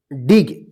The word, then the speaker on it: dig: डिग।